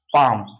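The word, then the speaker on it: palm: एल उसके बाद है पी ए एल एम इसको क्या पढ़ते हैं पाम आप देखेंगे बाम सबको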